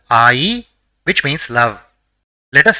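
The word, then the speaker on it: あい: say the first word the first character in the word is ah and the second is e so it will be pronounced as IE which means love let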